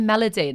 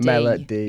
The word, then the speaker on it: Melody: I've just realized as well I'm pronouncing his name wrong cuz I keep saying Melodyine and people think are thinking of um yeah the the woman but um I mean Melo it's Melody Melody.